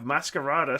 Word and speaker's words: Masquerada: And also on May 9th, we have Masquerada Songs and Shadows on Switch. That's how you pronounce that one as well.